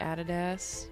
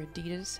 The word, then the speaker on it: Adidas: shoes let's look like added s or adidas however you want to pronounce that we tend to say added s in Australia cool kicks down here